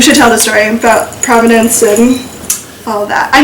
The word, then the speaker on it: Provenance: took Jaclyn around, and there's this place called Provenance, not the spelled like the town, but Provenance.